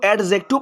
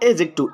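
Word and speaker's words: adjective: ऐसे ही एडजेक्टिव होता है ना, एडजेक्टिव, तो उसको एडजेक्टिव पढ़ना गलत होता है, उसका सही प्रोनाउंसिएशन होता है एजेक्टिव, एजेक्टिव। ओके स्टूडेंट्स, तो आगे देखिए,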